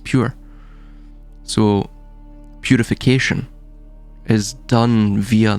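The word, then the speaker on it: πῦρ: That's how how it's uh pronounced pure.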